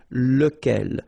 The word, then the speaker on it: lequel: be, as we saw, lequel. Okay, so remember, you've got to pronounce it lequel, even if you've got this QU. Okay, remember that this U phonetically doesn't exist, so lequel.